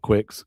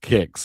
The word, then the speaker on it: Kicks: It's Kicks, not Quicks.